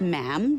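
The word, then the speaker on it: ma'am: majesty and after that it's just mam rhymes with jam and it's always a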